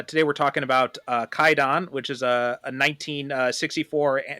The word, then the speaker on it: Kwaidan: to it uh today we're talking about uh kaidon which is a a 1964 Japanese Anthology uh